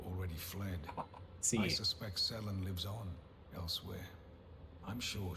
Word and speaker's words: Selen: Selen, not Celine. I mean, yeah. I guess it would be like Cian as well. It could be if the two L's were pronounced as a Y. I suspect Selen lives on elsewhere. But I guess if you parse it, it's like selling something and then inside, right? Is how it'd be pronounced.